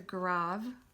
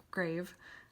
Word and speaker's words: grave: next one is called the grav or grave grav accent spelled like grave and comes down so